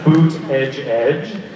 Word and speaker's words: Buttigieg: It says boot edge edge, which if you say very quickly is a way to pronounce Buttigieg, a presidential candidate who is my other doppelganger.